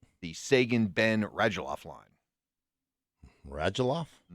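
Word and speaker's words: Radulov: sagan ben rajaloff line rajaloff i i assume i'm pronouncing it right i'm going by what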